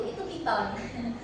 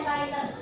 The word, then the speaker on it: Python: Nah, jadi kalau teman-teman ngiranya paiten itu ular bukan bukan bukan python yang itu piton ini bacanya python.